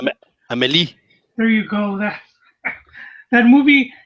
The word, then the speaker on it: Amélie: Or Amelie, or I don't know how to pronounce it. Amélie.